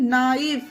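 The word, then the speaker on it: knee: उसी तरह से नी, नेक्स्ट एग्जाम्पल में देखिए गाइस, नी में कहीं पर भी का साउंड नहीं हो रहा है। नी, सिर्फ NEE, नी। के यहाँ पर भी साइलेंट है।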